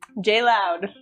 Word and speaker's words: J. Leod: Um, and my last name is Mloud. So, it's like J L O D. So, it's spelled like my last name. That's it. But it's like J loud.